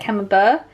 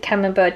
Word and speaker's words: Camembert: I'm assuming that's how you say it, camembert. You don't say the T, do you?